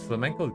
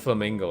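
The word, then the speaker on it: flamenco: But it's flamco guitar. Oh, no. It's just a type of guitar. Oh, it's flamco music, right? Okay. No, not flamingo. Like flamco. Like uh it's like this, like spelled like this.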